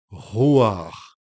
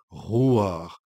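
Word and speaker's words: רוּחַ: Genèse et ce nom je vais vous le prononcer en hébreu c'est roir le nom lui-même est une sorte de souffle roir les les prophète depuis les temps anciens Jésus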